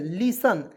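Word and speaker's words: listen: आई एस टी एन लिसन क्या पढ़ेंगे दोस्तो लिस्ट नहीं पढ़िए लिसन पढ़िए दोस्तों इसे लिसन लिस्ट नहीं लिसन लिसन मीस होता है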